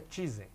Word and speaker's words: Tizen: Ele disse que a pronúncia correta é Tizen.